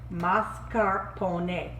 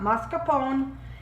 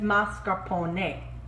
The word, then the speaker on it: mascarpone: you also will need mascarpone and that is how you say it mascarpone the e is pronounced a in italian trust me i lived there for three years i know it's not mascarpone it's mascarpone nice thing